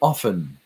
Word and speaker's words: often: the word often that the T was silent so it's the word often and that it was